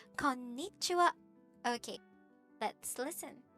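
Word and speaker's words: こんにちは: Konnichiwa. Okay, so why don't you try it? Konnichiwa. It's not konnichiwa, it's konnichiwa. You really have to hit the sound in there, the syllable before ni.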